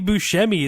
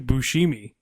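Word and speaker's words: Buscemi: Like I've been I I believe Bushmi is honestly correct to people saying my name is Bushimi, but still he does not.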